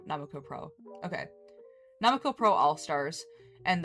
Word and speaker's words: 765 Pro: The first US performance by members of the original group 765 Pro, uh pronounced Namuko Pro, Namuko Pro.